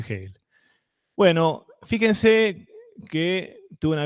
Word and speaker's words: Hegel: si dicen eje hay algunos que son militantes del Castellano entonces dicen No yo lo leo como se lo pronuncio como se escribe y bueno Entonces en ese caso ya no tengo nada que decir pero que sea por eso y no por no saber que se que se dice gel bueno fíjense que tuve